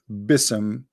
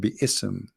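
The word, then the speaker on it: بسم: Yet Allah he do not know how to pronounce the word Bism. The word Bism became Bism. In Arabic, we don't have bism, we have bi-ism.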